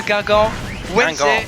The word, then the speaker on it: Guingamp: Or give me the pronunciation, Ombrack, because I mess it up. En avant de Guingamp.